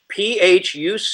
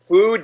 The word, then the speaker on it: Phuc: Phu Dat Bitch is his real name. I guess it's pronounced Phu, not Phuc.